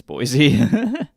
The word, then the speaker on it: Boise: It's Boise. I just read it like that. No, you're absolutely right. It's how you pronounce it.